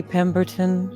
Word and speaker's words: Pemberton: Am I Am am I pronouncing your name correctly, Peton? You've got it just the way it sounds phonetically.